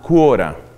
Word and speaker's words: Quora: un servicio en internet que se llama cura así como se oye se escribe cura ahora el puntocom que también tiene su aplicativo para android y para ios quora es un servicio muy